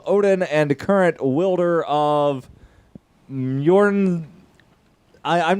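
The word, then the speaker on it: Mjölnir: and current wielder of Mjorn, I'm not even sure how the fuck you pronounce the name of the... Mjolnir, dude. You can't read? The J is pronounced like a Y.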